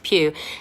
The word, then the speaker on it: Pugh: You say it like that, Florence Pugh. It's like Hugh, but with a P.